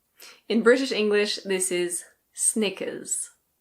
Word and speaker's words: Snickers: In British English this is Snickers. Snickers. It's like knickers with an S at the beginning. In American English the R is pronounced, so it's Snickers.